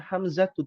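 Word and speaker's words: حمزة: Hamzatu. Nah, Hamzah ini tidak boleh bertanwin. Maka dibacanya Hamzatu, tidak boleh Hamzatun.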